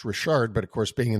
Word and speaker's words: Richard: store told me that it was actually pronounced Rashard but of course being in the states they call it PC Richard and Son and but